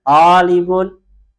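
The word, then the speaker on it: طالب: Toknya dipanjangkan. Talibun.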